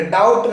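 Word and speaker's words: doubt: अगर दी ए जाएगा तो हम बी को साइलेंट पर नहीं पढ़ेंगे तो आप उसको कैसे पढ़ेंगे बल्कि डाउट नहीं कहेंगे आप डाउट दी ओ यू बी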